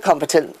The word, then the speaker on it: competent: like the word competent now the word competent the stress is on the first syllable which is competent but